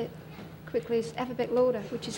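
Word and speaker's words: Afferbeck Lauder: And the man's name is Afabek Lauder, which if you say it quickly, is Afabek Lauder, which is how they say alphabetical order, you see.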